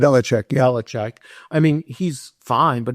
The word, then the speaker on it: Belichick: Bill Belichick, is that how you pronounce it? Belichick, yeah.